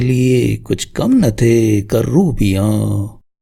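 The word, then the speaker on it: کرّوبی: الگ الفاظ گردانتے ہیں۔ عربی کا لفظ ہے کروبی۔ کروبی معنی ہے مقرب اور اعلیٰ درجے کا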